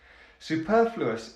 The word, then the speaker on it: superfluous: Let's start with the last syllable, and that is us. There's a schwa. Us. The syllable before that is like achoo, the flu. Fluous. Fluous. The syllable before that is per. Perfluous. And the first syllable is su. Superfluous.